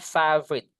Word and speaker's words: favorite: Jadi, ingatnya teman-teman bacanya favorite. Ingat F itu lebih tipis. Kalau V itu lebih tebal af beda kan?